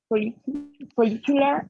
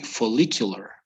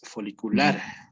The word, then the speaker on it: follicular: the faces, the pronunciation of the faces, follicular and Okay, luteal. it would be follicular.